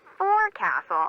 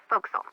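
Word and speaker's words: forecastle: ship but it's pronounced foxel why is that try pronouncing it like an english sailor with no formal education faux castle voxel over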